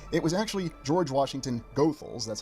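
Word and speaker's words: Goethals: prepared the infrastructure it was actually George Washington gothal that's how the family says you pronounce that last name who was brought in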